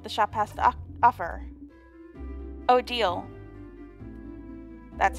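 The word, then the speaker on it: Odile: looking at what the shop has to offer o deal that's how her name is pronounced can I help you with anything yeah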